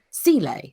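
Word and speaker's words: Seele: They could just be using him as they know he's a spy for the Sile, as it's pronounced in this episode.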